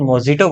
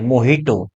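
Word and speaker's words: mojito: सी made, है ना, सी made a न्यू मोहिटो, मोहिटो जिसको लोग मोजिटो बोलते हैं, वो एक्चुअली उसका जे का जो प्रोनाउंसिएशन है वो हा है, मोहिटो।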